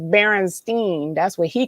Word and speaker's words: Berenstain: EIN or the IEN, I didn't know how to pronounce that. And my brother was like, it's Berenstein.